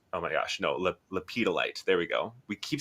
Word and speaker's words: lepidolite: And I opened my eyes, and right away, like my eyes were on this big raw lepidolite. Oh my gosh, no, lepidolite.